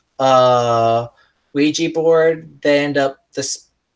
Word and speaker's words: Ouija: I think Wega that's a board? I think No, that's Ouija board. I don't know how to pronounce it, okay? It's Ouija board. It's Can you Ouija burn board. a Luigi board? Not Luigi. Ouija.